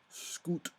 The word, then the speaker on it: schoot: crew of a Dutch schoot, which is a small barge you see a lot in the channel, though when it's at home it's pronounced scoot, that happened to be passing.